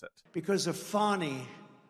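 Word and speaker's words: Fani: of how to pronounce Kam's name where he mispronounces it because of fonnie f a n i fny you have to pronounce it fonnie it's called Fanny you have to pronounce f i don't know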